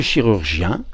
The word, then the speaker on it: chirurgien: avec sa main, chiroptère, et le chirurgien, alors on prononce chi cette fois, qui opère avec ses mains.